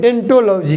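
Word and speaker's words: odontology: हैं उसको कहते हैं डेंटोलॉजी क्या कहते हैं डेंटोलॉजी लेकिन उसको लिखने ओ से ओ साइलेंट राहत है स्टडी ऑफ सेल्स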